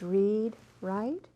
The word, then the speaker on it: Readwright: Read-Wright?